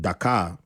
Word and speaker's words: Dhaka: Nigerian and I've also had someone born in Dhaka is it pronounced that card the captive Bangladesh yes yes